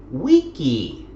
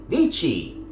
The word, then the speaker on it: Vici: Okay, you can see that they show the classical pronunciation. Weni, Widi, Wiki, not Veni, Vidi, Vici, as would have been the later pronunciation.